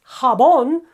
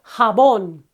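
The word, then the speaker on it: jabón: to the rule it should be here habon but it's not harbon it's habon and that's why we've marked it with this dilde okay habon another one that ends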